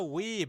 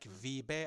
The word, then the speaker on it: Wiebe: it guys in the in the bumper is pronounced weeb. So I thought it was like vbe I thought it was like in German.